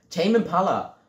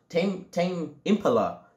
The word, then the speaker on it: Tame Impala: Habe ich das richtig ausgesprochen? Tame Impala. Tame Impala.